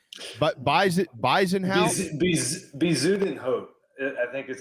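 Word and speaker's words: Bezuidenhout: with the guy's last name but buys it bison house i think that's how you say it never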